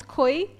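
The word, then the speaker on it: Kui: Email address is Koi. And the reason there's a challenge pronouncing it.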